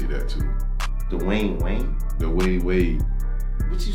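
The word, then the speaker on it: Dwyane Wade: Dwayne Wayne a loser, man. I just want to say that too. Dwayne Wayne? Dwayne Wade.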